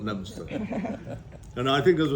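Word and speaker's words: Leominster: have heard of it they think it's spelled Leo Minster but I can tell you he correctly spelled lemster and I think as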